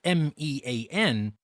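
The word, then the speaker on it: mien: mean here it's not me a n it is m i n but it is pronounced the same mean but remember it is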